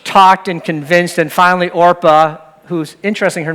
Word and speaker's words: Orpah: I actually heard that Oprah Winfrey's name, when she was born, it was Orpah, but people pronounced it wrong. They said Oprah, so she became Oprah, but she's really Orpah.